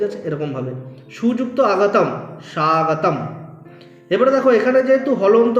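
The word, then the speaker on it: স্বাগতম্: স্বাগতম বলতে পারবো না ম এর পুরো উচ্চারণ হবে না এখানে কি হবে স্বাগতম ব্যাস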